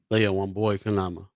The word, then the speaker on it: Leah Wambui Keinama: our special guest from the Documenters program, Miss Leah Wambui Keinama. Did I say it right? Pretty close. It's Leah Okay. Wambui Keinama. Leah Wambui Keinama.